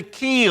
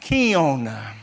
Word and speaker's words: kiln: And of course, we're talking tonight about going through the fire or being placed in the keel, or sometimes pronounced kiln.